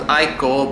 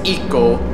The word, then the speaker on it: ICO: known by some as I call but the proper name is eco which how you pronounce it in Japanese e dubble d &